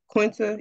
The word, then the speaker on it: Quinta: was dope too yeah and uh is it quentis is say her name Quinta yeah the first person in 40 years to